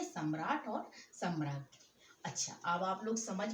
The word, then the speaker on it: सम्राज्ञी: सम्राट का सम्राज्ञी, ये इसका उच्चारण होता है। सा, माँ में बड़े आ की डंडा, यहाँ नीचे ये देखिए बड़े आ की मात्रा लगी हुई है और माँ पर रेफ का चिन्ह है, और ज्ञा में बड़ी